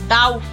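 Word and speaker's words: doubt: com lamp B silent lamp thumb thumb dump dump नहीं होता dump डाउट डाउट subtle subtle डाउट subtle इसमें B silent है settle सी silent Saint सीधा ऐसे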